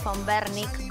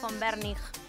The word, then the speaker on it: Von Wernich: Es como la BW de los autos.